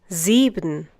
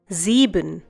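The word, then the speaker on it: sieben: followed by a vowel, it is pronounced as if it were the English Z. Similarly in the next one zeben once again zeben a once again a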